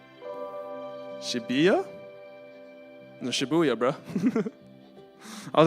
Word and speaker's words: Shibuya: Uh, Dream Girl in Shabuya, number 15. Shibuya. No. Shibuya, bro.